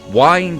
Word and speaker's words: wind: your horn and then I got told no it's win but then I look it up and it says wine does is an archaic British pronunciation of WI and D like you can wine